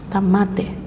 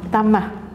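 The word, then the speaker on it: التَّامَّة: tammah balimatillahit tamah tamah tamat tamat ya bacanya tamah itu tanya ta maftuhah apa Tam bututoh ya kalau Tamar bututoh tamah ya bikalimatillahi tamat tamah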